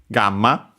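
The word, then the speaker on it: ガンマ: check the other ones gamma. And yeah, funny enough, yeah, that's a perfect example of another N on its own that uh actually gets pronounced with an M because there's the following uh ma.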